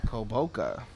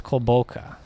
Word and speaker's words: Kulboka: How do you pronounce his name? Kulboka. The forward from Lithuania. There you go. They go with him, Arnaldus Kulboka.